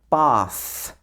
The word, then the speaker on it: bath: Also in words like bath, where the th is at the end of the word. Bath, bath, and breath, breath. Okay, so this is all